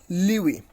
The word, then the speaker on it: lewe: So it is LEWE, Liwi. You can also pronounce, you can also know the pronunciations of this particular word, clicking on this, on this sound icon.